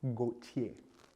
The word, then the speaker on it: Gauthier: Her name is Emily Gauthier.